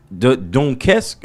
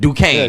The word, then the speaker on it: Duquesne: Hosted at how do you pronounce that? Dunkesk, or I don't know how to pronounce Duquesne? that. Duquesne, Yeah, Duquesne That's University in Pittsburgh, through the championship.